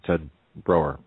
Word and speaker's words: Broer: Ted Broer. Am I pronouncing that correctly?